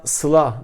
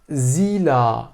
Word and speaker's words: Sıla: Mesela bu isim anne baba tarafından Sıla diye söylenirken çocuğun arkadaşları ve okuldaki etrafı tarafından Zila diye telaffuz ediliyor.